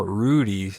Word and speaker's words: Ruddy: name Ruddy Rudy Rodriguez oh Rudy two D's threw me off Rudy Rodriguez is Dulce